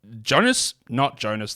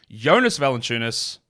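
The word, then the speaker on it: Jonas Valančiūnas: Because what happened in this game, and we have seen this pattern time and time again, is Jonas Valanciunas, that's not how you pronounce it, Jonas Valanciunas gets limited when Zion plays.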